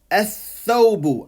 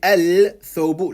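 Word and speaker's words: الثوب: Ath-thawbu. I don't say al-thawbu, la. Ath-thawbu.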